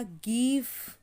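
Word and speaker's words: give: एक हो गया हमारा गिव, ठीक है, गिव।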